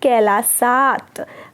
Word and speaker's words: कैलासात: देखिए यहाँ पे ध्यान दीजिए, कैलासात यहाँ पे त हो जाएगा, ये द भी रखेंगे तो भी वही बात है, लेकिन जब हम इसका उच्चारण करें तो क्या है?